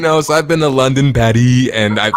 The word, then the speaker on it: Paris: Patty. Like I know he doesn't pronounce the S.